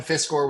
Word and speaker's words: Fiscor: Is it Fiscor? Am I going to say that right? Okay, good. Fiscor with Fiscor Plumbing and Air.